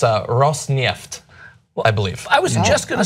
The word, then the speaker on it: Rosneft: I JUST WANT TO GO ON THE RECORD AND SAY I WAS WRONG, IT'S ROSNEFT. I WAS GOING TO SAY, THE FIRST TIME YOU PRONOUNCED IT, IT WAS GREAT.